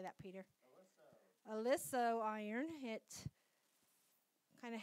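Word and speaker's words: Oliso: Alisso.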